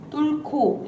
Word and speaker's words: 뚫고: 뚫고 여기. 뚫고 조지아까지. 사이에 H가 있다고 생각하면 돼. 뚫이랑 고 사이에.